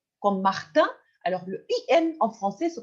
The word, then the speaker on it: Martin: son in in comme Martine alors regardons c'est Martin le i n se prononce un mais si si on va ajouter la lettre E on va prononcer in Martin Martine alors s'il vous plaît